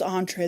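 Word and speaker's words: entrée: That's entree.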